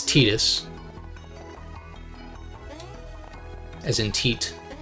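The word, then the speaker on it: Tidus: little bit but like the protagonist from Final Fantasy 10 tetus is spelled like TI d u s which you would think is Titus because of the water beaming going on there but no it's it's tetus as in Te not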